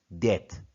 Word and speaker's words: debt: here we learn debt you don't need to pronounce b b is silent debt limits credit limit refers